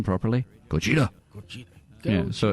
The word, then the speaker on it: Gojira: This is a news show and stars Aaron Taylor-Johnson from Kick-Ass, Ken Watanabe playing the obligatory Japanese guy who pronounces the name properly, Gojira.